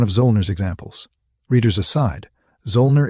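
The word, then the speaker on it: Zöllner: Readers aside, Zolner is spelled Z O L N E R Zner.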